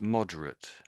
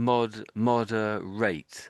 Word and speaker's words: moderate: Yeah, I think you're still I can hear I I can hear saying mod mo rate. I can I can hear you saying rate. Hold on. I can hear you say rate at the end.